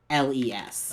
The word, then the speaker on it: Tuffles: Yeah, it's Tuffles. Okay. It's like truffles without the Without R. the R, yeah.